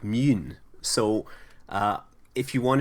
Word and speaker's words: Mun: now of course the rocket is spelled with the U in uh Kerbal Space Program but actually in many versions it's given an o lot on top which makes it more like mun so uh if you